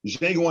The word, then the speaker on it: Django: Come back because Django Unchained, the D is silent, is representing.